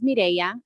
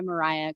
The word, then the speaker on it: Mireya: My name is Mireya. It's spelled Mireya. That's why it looks like that. But I do go by Mariah because a lot of people can't roll the R.